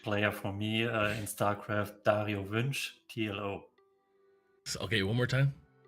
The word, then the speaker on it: Dario Wünsch: And I'll let Toby pronounce his name. Yeah, also, okay, my fanboy moment, greatest player for me in StarCraft, Dario Wünsch, TLO. Okay, one more time. Dario Wünsch, TLO, the little one.